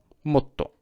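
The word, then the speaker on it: もっと: Remember, it's not motto. Oh, okay. Forget that English. That is not applicable here.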